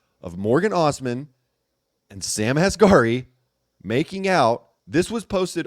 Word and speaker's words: Asghari: Spears' now ex-husband, Sam, I think it's pronounced Asghari, right?